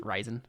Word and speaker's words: Rizon: yeah it's probably pronounced it's probably pronounced like horizon but without the whole so it's just ryzen uh but yeah ryzen